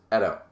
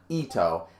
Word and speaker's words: Eto: It's pronounced Edo. Yeah, no, who helped me out with that? Somebody else helped me out with that. It's not Ito, and it's not Eto. It's like Edo.